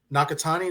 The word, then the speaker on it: Nakatani: I thought was the was it Nakatani?